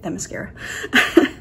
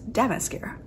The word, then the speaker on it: Themyscira: If you're not a Wonder Woman fan, that's how you say it, Themyscira, which I for years have thought was Demascara. Tis not.